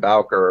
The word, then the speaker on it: Bowker: should have asked beforehand there's actually two different pronunciations of it and boker and bowker are both different parts of the family well i'm sorry i